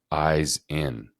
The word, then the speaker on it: Ihsan: comes to me and he says I got it eyes in and I was like oh my God that's the first time you had heard that yes whoa like that's